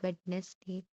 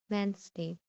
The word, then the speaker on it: Wednesday: D sound Wednesday. Not a mostly mostly people pronounce this as Wednesday, but it is incorrect. The correct pronunciation is Wednesday.